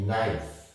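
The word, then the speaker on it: knife: না সেক্ষেত্রে দেখতে পাচ্ছি কে এন আই এফই নাইফ নাই অর্থ সুরি দেখুন এখানে এন আই এফই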